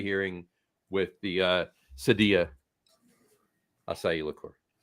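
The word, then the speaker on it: açaí: brought in the acai. I lo I lost my cherry. Y and picked up some asai. Or or or those uh that choose to pronounce it akai.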